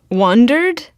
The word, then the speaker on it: wandered: So the first syllable we tend to say higher, unless we're asking a question, which you did the first time, right? Wandered. But if we're just saying in a sentence, we go wandered. Yeah. And the first syllable is a higher pitch than the second syllable, usually.